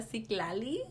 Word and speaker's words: Citlali: Se pronuncia Citlali.